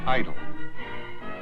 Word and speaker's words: Idlewild: extra mileage idl idlewild airport new york in the vernacular of the airline industry is sometimes pronounced idle probably idlewild is the